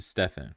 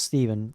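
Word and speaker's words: Stephen: that now on to Stefan which is actually pronounced Steven in the song yes she says Steven throughout this whole song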